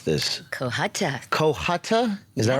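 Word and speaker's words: Cohutta: She is an American actress, television personality, singer, and philanthropist born in how do I pronounce this? Kohhata. Kohhata. Is that right? Yes. Kohhata.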